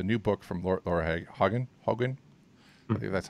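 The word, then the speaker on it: Hogan: and then the new book from Laura Hagen Hagen that's how it's pronounced from a bed apart from book apart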